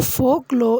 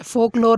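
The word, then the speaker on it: folklore: तो फोक लॉ इसमें are silent है। फोक लॉर नहीं बोलेंगे। फोक लॉ।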